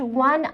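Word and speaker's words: one: ज़्यादा कुछ मत देखिए, आप सिर्फ इतने पार्ट को देखिए सेंटेंस के, डैश वन आइड मैन।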